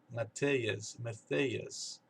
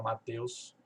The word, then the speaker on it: Mateus: Mas então, eles separam as sílabas do nome Mateus bem diferente, e por causa desse jeito de enxergar as fonéticas, as sílabas, a pronúncia sai completamente diferente. Aqui fica us, né? Matthias. É o jeito que eles falam. E eu tenho que explicar que não é assim, né?